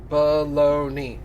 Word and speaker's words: Bologna: maybe tomorrow maybe in a few minutes it's pronounced Bologna okay cool got it pretty sure that's what he wrote right there Bologna Bologna yeah see right there baloney that's balloony actually Amy hey short football what's